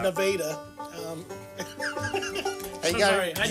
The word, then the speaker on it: Nevada: By the way, if you're looking that up, it's spelled Nevada. Nevada, Yeah, said by weird Missourians as Yeah. Nevada.